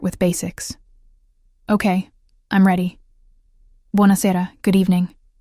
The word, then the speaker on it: Buonasera: Buonasera, good evening. Buonasera, she repeated. Her pronunciation was terrible. Buona sera, he corrected gently. Emphasis on the second to last syllable.